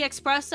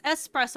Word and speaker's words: espresso: The fucking realization when it's like, I say espresso and I get corrected to, oh, like it's espresso, and I'm like, so you don't pronounce the X?